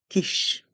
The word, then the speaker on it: quiche: Here we must remember that the Q and the U form one sound. The sound K. Quiche.